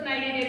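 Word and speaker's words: Cnidaria: Phylum सियोलेंट्रेटा, जिसको नाइडेरिया भी कहते हैं। इसमें भी सेम सी साइलेंट है, वो क्या कहते हैं इसको? नाइडेरिया, नाइडेरिया भी कहते हैं, ओके।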